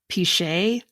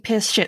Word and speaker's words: pichet: But it was pronounced like pichet or something weird like that. And I forgot to put in the, like, how to pronounce it. So I kept saying piss shit.